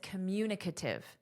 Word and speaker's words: communicative: But in this, communicative. So the syllable stress changes, but this is not a very common word. So just know communicate, communicative, okay? So that's the pronunciation difference.